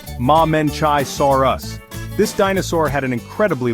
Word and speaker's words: Mamenchisaurus: Here's the Mamenchisaurus, pronounced Mamenchisaurus.